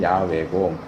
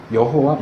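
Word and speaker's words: 야훼: 그까 현재까지 알려진 것은 가장 가까운 발음은 야외고 야회 이건 아니고 여호와 여호와는 그건 더더욱가 아니 그건 완전히 엉터리 이름이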